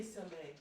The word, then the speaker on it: Soleil: I say Soleil. That's correct.